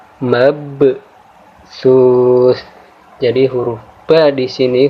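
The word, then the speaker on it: مبثوث: Maka huruf ba di sini, huruf ba yang berharokat sukun di sini kita baca dengan cara menekan, kemudian kita sedikit memantul. Ya, jadi cara membacanya mabsus, ya, mabsus.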